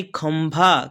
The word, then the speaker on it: खंभा: और ड यानी खंड खम यह देखिए म का उच्चारण हो रहा है ख अन न ख नहीं ख अ म खम और भा यानी खंभा क्या है खंभा गंग